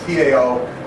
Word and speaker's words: Tao: The T-A-O, or the Chinese sometimes spell it D-A-O, but it's pronounced Tao, which is the eternal way of the universe.